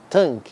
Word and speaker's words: Tang: o paz agora pessoal nome correto dessa dinastia é t a n g thang porém Muitos dizem que você não pronunciou G daí o nome ficar solta mas a gente sabe